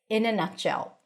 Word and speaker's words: in a nutshell: To summarize this lovely video, we are going to practice the phrase in a nutshell. In a nutshell. T is held, connected to the sh sound.